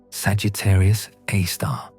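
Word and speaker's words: Sagittarius A*: The center of the Milky Way contains a supermassive black hole called Sagittarius A star, pronounced Sagittarius A star.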